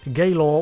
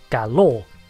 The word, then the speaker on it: Galor: from Star Trek as gay law when they are and should be pronounced as galore because I was never